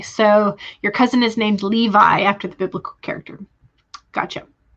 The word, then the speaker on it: Levi: Okay, so Lizzie says, I used to pronounce Levi as Levi all the time, or Levi. You heard people say it with that spelling, so you went with it.